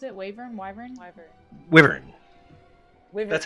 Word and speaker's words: Wyvern: How do you pronounce it? Wyvern? Wyvern? Wyvern.